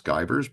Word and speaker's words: Givarz: but here's my name don't worry about pronouncing my last name it's skyers but don't worry about